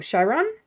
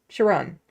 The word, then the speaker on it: Chiron: My Chiron is pronounced exactly how you would pronounce uh, Chiron in French because French Canadian. Oh, Chiron. Chiron.